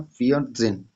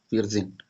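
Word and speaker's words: vierzehn: तो सबसे पहले हम लोग 4 लिखेंगे, फिर 10 का लिखेंगे, तो 14 का फियर जेन, 4 और 10, फियर जेन 14।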